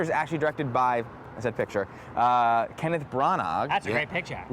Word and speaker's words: Branagh: The picture is actually directed by, Kenneth Branagh. That's a great picture. A lot of, Academy Award winning Kenneth Branagh, Hamlet, I don't think you pronounced the G in his name, Shakespearean.